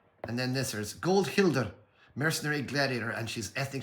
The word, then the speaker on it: Hildr: Not this way, I'm pronouncing Hilder really right there. I'm sure and some of the Germans out there will pat me on the back for pronouncing Hilder the right way.